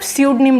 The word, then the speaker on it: pseudonym: बिल्कुल उसी तरह जिस तरीके से आपकी निमोनिया की स्पेलिंग को पी न्यूमोनिया नहीं बोला जाता, आप पी को कट करते हो सिर्फ निमोनिया बोलते हो, उसी तरीके से इसमें से पी कट हो जाएगा और सिर्फ स्यूडनेम बोला जाएगा।